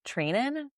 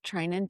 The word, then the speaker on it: Treinen: Do you know how to say this name? I don't know, Trinan. Treinen.